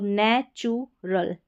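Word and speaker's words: natural: तो अब आगे वाली स्पेलिंग बचती है जैसे नै चू टी यू को च भी पढ़ा जाता है। चू भी पढ़ा जाता है कई स्पेलिंग्स में। तो यहां पर नेचु यानी टी और यू का उ की मात्रा के रूप में उच्चारण हुआ है।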